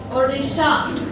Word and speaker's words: Odisha: along with Punjab or is a very good odisha that is how we pronounce it now can you tell me